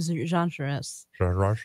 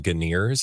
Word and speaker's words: genres: If for its genre, let's see, what are some genres? I had a friend who used to call them Ganeers, and I was like, Ganeers. I don't think that's how you pronounce that word.